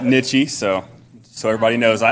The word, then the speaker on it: Nitsche: I butchered coach's name not n it's a nichy so so everybody knows